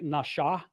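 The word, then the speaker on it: נשא: When it's over the right side, it's pronounced more like nasha. It's pronounced with a sh sound.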